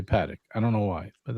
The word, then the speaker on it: Patek: at you with your fancy Patek Philippe book behind you.